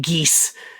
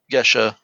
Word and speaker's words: geas: It's It's a It's a geas. Yeah. For those of you listening who don't know what I'm saying, I'm saying geas.